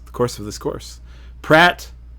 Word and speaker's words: Praat: Praat, or it's actually pronounced Praat because it's Dutch or Belgian or French.